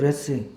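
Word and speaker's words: wrath: 그 영어 단어에서 분노라고 하는 영어 단어가 레스예요. 레스. 이게 W는 묵음이 되고 레스인데이 단어가 어디에서부터 파생되었냐면 리스라고 하는 단어에서 파생되었는데 리스는 화환입니다.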